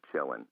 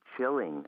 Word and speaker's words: chillin': Has to be pronounced chillin'. If you say I'm going to be chilling at home, that's not slang, and people who use that slang term will laugh at you.